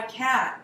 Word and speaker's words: cat: Yeah, it's a soft T. It's no T, it's a glottal stop. So even though we spell it with a T, it's a glottal stop, which is, do this with me. Uh-oh. Uh-oh. There, we stop the air here.